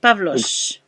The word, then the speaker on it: Pavlos: And uh, is your name Pablo or Pavlos. Pavlos? Ex- Pavlos. yeah, exactly as it's spelled.